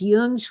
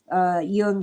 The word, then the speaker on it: Jung: And by the way, it's okay to call him Jung. We're Americans, but I studied German, so I pronounce it the way Germans would. Jung spoke German.